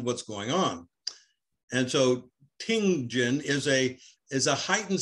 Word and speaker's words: ting jin: what is king jen king jin uh ting jin ah yes ting jin that's um t-i-n-g so it means listening